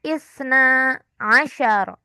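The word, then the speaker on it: اثنا عشر: Kan kalau 2 itu isnani, tapi di sini 12 itu jadinya isna asyara.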